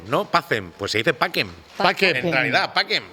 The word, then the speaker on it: pacem: Cuando tú dices, ves algo que pone, pues lo de que decimos pachem, ¿no? Pacem, pues se dice paquem.